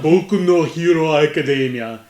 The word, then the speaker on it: Boku no Hero Academia: my hero academia baby boku no hero academia is that how it's pronounced yeah yeah now you